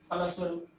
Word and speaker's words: फलस्वरूप: सच्चा, फलस्वरूप यहाँ संयुक्त है तो इस पर होगा बलाघात। ल पर फलस्वरूप, वेदाव्यास।